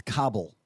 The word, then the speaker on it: Kabul: It's Kabul.